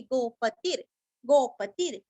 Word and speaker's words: गोपतिर्: उरस्व लेना है उत्तरो गोपतिर पति का तीरस्व और गो के ऊपर का रफार हमें ती को जोड़ के लेना है गोपतिर गोप्ता आधा प और